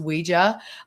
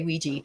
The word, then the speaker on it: Ouija: it and it said the phonetic spelling is Weeja. They gave the phonetic spelling of it. So we know for a fact it should be pronounced Weeja, although people say Weegee.